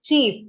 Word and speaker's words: cheap: The chip that we eat has a short sound, okay? Chip or chips. Chip. But when I'm saying cheap, it is a slightly longer word.